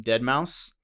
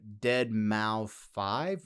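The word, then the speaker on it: deadmau5: guy from there yeah but it's spelled d-e-a-d-m-a-u-5 like the number five so if you don't know who that is it looks like dead mao 5 white but if you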